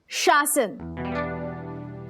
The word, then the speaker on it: शासन: नहीं नहीं इट्स शासन पहले श फिर स इट मींस हुकूमत गवर्नमेंट बेब